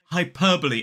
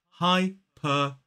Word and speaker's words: hyperbole: Now, I totally get that this word looks like hyperbole, like some kind of, like, I don't know, ramped up version of the Super Bowl, but this is hyperbole. 4 syllables, the stress falls on the second.